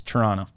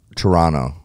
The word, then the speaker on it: Toronto: when speaking to Canadians don't pronounce the second T it's Toronto Toronto yeah well I've also